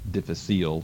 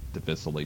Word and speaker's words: difficile: finally this one clostridium deficiency and sometimes that's pronounced difficile but it's actually deficitly but almost everybody says difficile and or commonly known as c diff that's